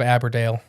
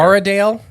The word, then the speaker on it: Aradale: But you're like adding letters that aren't don't exist there. Aradale. There we go. Ara. A R A Dale. But you got also you got to do it say it like Australians are Audale where they don't pronounce like everything. So it's probably like Ardel Ardle.